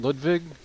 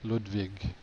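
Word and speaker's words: Ludwig: Why am I saying Ludvig? Because that's how I believe they'd pronounce pronounce it in Germany. Ludvig like Ludvig von Beethoven.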